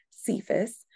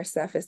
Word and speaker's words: Cephas: the conclusion Peter's name also known as cephas or cephis depending on how you want to translate it but pronounce it